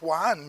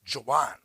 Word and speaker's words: Joan: names like Joan Meo I was taught Juan Meo and when I was in Spain someone said that's incorrect it's Jan it's not Spanish we don't speak Spanish uh well they do